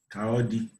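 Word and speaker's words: Ka ọ dị: Kaodi. That don't sound right, honey. Okay. That's how you pronounce it in Igbo?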